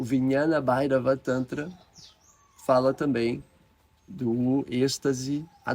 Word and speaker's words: Vijnana Bhairava Tantra: iniciadas nessas práticas, lá no Vijnana Bhairava Tantra, Vijnana Bhairava Tantra, forma correta de pronunciar.